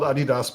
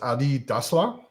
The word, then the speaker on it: Adidas: Adi Adidas is called Adidas because the guy's name is Adi Dasla.